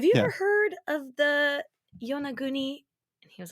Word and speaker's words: Yonaguni: But you had never heard about the, how would you pronounce that, the Yonagi? Yonaguni? Yonaguni is what it would be.